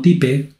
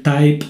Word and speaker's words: type: En este caso, el método type, se pronuncia type, no type, sirve para mostrarme el tipo de dato de la variable.